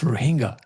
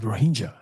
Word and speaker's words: Rohingya: And I know that these people, when they're in Bengal or Bangladesh, they call themselves Rohingya. But in Myanmar, they're called Rohingya. And so I use the Myanmar pronunciation because that's, my brain is in Myanmar sometimes.